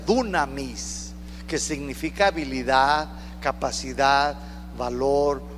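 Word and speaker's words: δύναμις: poder de su resurrección esta palabra poder en griego se pronuncia dunamis dunamis significa habilidad capacidad valor poder para hacer Milagros se lo voy a repetir esta palabra poder se pronuncia dunamis que significa habilidad capacidad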